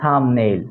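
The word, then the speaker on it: thumbnail: এর পরে কোন ভাওয়েল নাই সেক্ষেত্রে বি এর উচ্চারণ হচ্ছে না অথবা দেখতে পারি যে আমরা থাম্বনেইল থাম্বনেইলের ক্ষেত্রে দেখতে পাচ্ছি যে বি এর পরে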